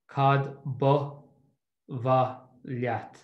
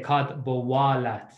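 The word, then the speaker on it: cad ba mhaith leat: Now, you might get a different Irish teacher at some stage, and he or she will say cad bowalat, like a W, and that's totally fine as well.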